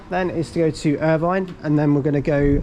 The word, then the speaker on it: Irvine: reached um Urban station uh how do you pronounce this Irvin Irvin there we go so Ryan here with his